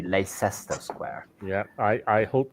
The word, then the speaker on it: Leicester: the the thought that my uh middle school English teacher taught us to say Lester and in my in